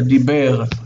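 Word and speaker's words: דבר: The accent is here. It's on the last syllable. So what we have here is de e b. De e b. Because this represents it's two bets. Second syllable, b, e, r. Two syllables, dib, bir.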